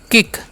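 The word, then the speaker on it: kick: हैं पुल ओके और के आई सी के है तो इसे पढ़ेंगे हम किक ठीक है सी केना गा सी के जब भी रहेगा उसके न क कर देना है ठीक है अब इसे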